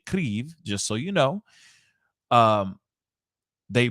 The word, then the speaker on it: Kyiv: As of yesterday, one of their main towers in Kyiv, however you pronounce it, it's apparently they say Kyiv, just so you know.